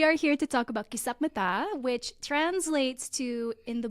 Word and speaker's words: Kisapmata: Today, we're going to talk about Kisapmata, and I just want to make sure I am pronouncing that right, right?